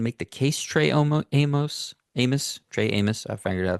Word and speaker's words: Amos: Trey Amos, Amos, Trey Amos, I figured out that's the right way to say it.